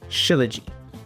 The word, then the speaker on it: shilajit: Shilajit um shilajit is how you pronounce it.